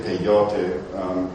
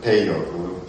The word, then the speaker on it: peyote: And this again was called peyote, and some people say peyote, but it really is accented peyote.